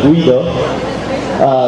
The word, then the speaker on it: Guido: I come from Italy, and my name is not Guido but Guido, which in your language is pronounced Guido.